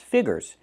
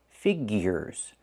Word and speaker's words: figures: The word is not pronounced figures. It's pronounced figures. We need that ear sound.